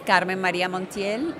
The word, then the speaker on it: Carmen Maria Montiel: Yeah, my name is Carmen Maria Montiel, and I'm the nominee, the Republican nominee for U.S.